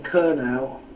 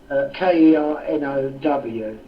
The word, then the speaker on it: Kernow: It's Mebyon and then Kernel or Kernow, Kernow.